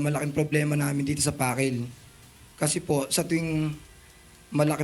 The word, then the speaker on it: Pakil: Pakil. Pronunciation?